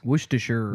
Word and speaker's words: Worcestershire: I don't know how to pronounce it. I've always called it Worcester sauce. Worcestershire.